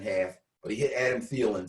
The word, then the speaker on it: Thielen: Thielen, yes.